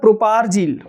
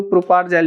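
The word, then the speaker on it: propargyl: इसका नाम होता है प्रोपारजील, ठीक है, प्रोपारजील कहते हैं, ठीक है, एक्चुअल प्रोनाउंसिएशन यही होता है कि जो प्रोपारजेल भी कहते हैं, बट प्रोपारजील होता है, ठीक है, ये भी नाम ध्यान रख लेना है।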